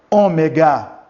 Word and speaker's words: ômega: Ele é representado pela letra O, mas é um O forte, como tivesse um acento circunflexo nessa letra, O. Repita aí, O, ômega.